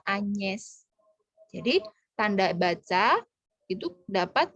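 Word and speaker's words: Agnès: Tapi kalau nama Agnes, ya, E-nya ada aksen graf yang bunyinya E, jadi dibacanya Agnes.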